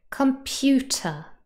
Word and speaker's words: computer: Computer, 3 syllables, and the middle one is stressed.